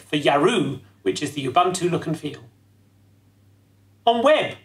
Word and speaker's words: Ubuntu: It's pronounced Ubuntu? Man, another thing that I mispronounce. I say Ubuntu. Ubuntu, okay.